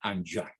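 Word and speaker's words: Enghien: en la ciudad de anchoa bélgica esa ciudad se escribe en jim con noche intermedia como es francés se pronuncia and young bélgica donde recibe el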